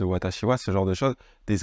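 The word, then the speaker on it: 私は: à travers l'écrit B vous allez peut-être dire des choses comme kogichiha au lieu de kogichiwa des watashiha à la place de watashiwa ce genre de chos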